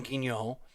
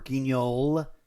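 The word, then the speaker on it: Guignol: Uh the L is mostly silent because I believe it derives from a French pronunciation. Um uh but theater of theater in the style of Madame Ginol or Ginol if you insist on pronouncing the L.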